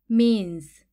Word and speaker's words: means: 소리가 나고 는 느 S는 즈 소리가나요 미와 느는 같이 소리 나서 민 즈는 혼자 소리 나서 즈 민 뒤에 점 두 개는 길게 소리 내라는 뜻이에요 민즈 한 번에 읽으면 means means 수단 또는 방법이라는